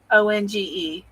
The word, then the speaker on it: Onge: How do you pronounce that? ONGE. On.